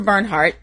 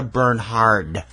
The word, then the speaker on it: Bernhard: was always very picky its Sandra Bernhard uh-huh not Bernhard Bernardo T you're right